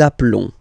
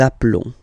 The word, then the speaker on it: appelons: Nous nous appelons. Nous nous appelons. Okay, final S doesn't exist. Nous nous appelons.